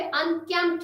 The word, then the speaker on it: unkempt: P is also silent in the final spelling sequence PT, for example unkempt। तो P अगर कहीं पे final spelling PT में आता है यानी कि PT लास्ट में आखिर में इकट्ठे किसी अल्फाज में आता है तो वहां पे भी हम P को नहीं पढ़ते। तो इसी तरह हम यहाँ पे अनकैम्प्ड पढ़ेंगे, अनकैम्प्ड नहीं, अनकैम्प्ड, क्योंकि आखिर में PT आता है और P को पढ़ना दुरुस्त नहीं है।